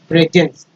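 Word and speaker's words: presence: एन सी पढ़ते हैं, लेकिन एस जो है इसको स अजा दोनों पढ़ते हैं, स भी पढ़ते हैं, ज भी पढ़ते हैं, लेकिन यहाँ पर जो है ज का उच्चारण हुआ है, तो ज में एंस लगा तो जेंस हो गया, प्रेजेंस, है ना, प्रेजेंट।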